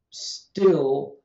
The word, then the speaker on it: still: One context where you clearly get the unaspirated stop, unaspirated voiceless stop, is when you have an S preceding the T, P, or K sound in a stressed syllable. So still has an unaspirated stop, till has an aspirated stop.